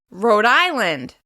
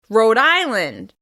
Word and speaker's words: Rhode Island: Moving on, Rhode Island. Rhode Island. Once again, the stress will be in the second word. In this case, it's on the first syllable. Rhode Island.